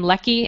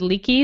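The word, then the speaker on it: Leckie: Um, I was pronouncing her name Leki and then someone said Leaky the other day and so now I don't know what to do. I believe she told me an Leki when I saw her at the Nebulas.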